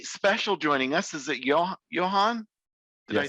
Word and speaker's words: Johan: Is it Johan?